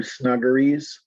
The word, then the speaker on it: snuggeries: Page 2, number 22, snuggeries. That's the pronunciation, and it's where babies are snuggled in their cribs.